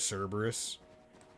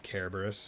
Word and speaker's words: Cerberus: Or Dirge of Cerberus, if we were going to presumably pronounce it as they likely did in Japanese. Because they do the hard C sound for Cerberus, which I believe is how you would say it in Greek. But not 100% sure.